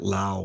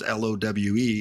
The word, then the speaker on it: Lowe: Like LOWE, right? Like in baseball, sometimes it's like Derek Lowe. And then what's the other pronunciation? Lau? I guess isn't there a player it's basically love is what the name is. Okay. I thought there was one that spelled LOWE that pronounces it Lau or something like that.